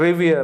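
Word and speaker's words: revere: Pronunciation क्या है साथियों, रिवियर।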